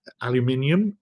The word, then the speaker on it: aluminium: know bent round um aluminium for those of you that like to hear British pronunciation and aluminum if you